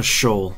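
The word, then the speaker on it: Sheol: beat the cathedral and is it Seoul or Seoul? A shoal is how I've heard it pronounced.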